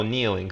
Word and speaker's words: kneeling: diners diners diners oh kneeling the the the k is silent good good um so one